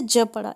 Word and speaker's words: gyp: G के बाद Y आया तो हमने इसे ज पढ़ा, एनर्जी.